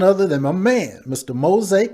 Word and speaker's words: Mozay: bit about you know mosaic who you are so the world understand why you're so powerful sure you know um my name is mosai that's spelled m-o-z-a-y like call old